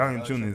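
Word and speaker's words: Valančiūnas: Valanciunas.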